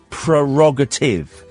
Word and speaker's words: prerogative: It's my prerogative is how the word is spelt, and indeed how the word is said.